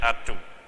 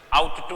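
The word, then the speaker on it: ought to: इसकी जो प्रोनाउंसिएशन है वैसे होगी आट टू, इसकी प्रोनाउंसिएशन आउट टू नहीं होगी, इस चीज का ध्यान रखें थोड़ा।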